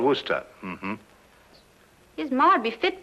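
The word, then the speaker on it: Worcester: something else too doc but it's spelled w-o-r-c-e-s-t-e-r sister oh yes i see yes lord wooster mm-hmm his mind be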